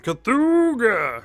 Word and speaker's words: Cthulhu: It's like an old car horn. Cthulhu.